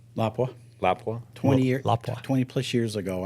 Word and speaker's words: Lapua: You know, generally you're going to be shooting Lapua or Lapua. Alan, why don't you give me your pronunciation? Lapua.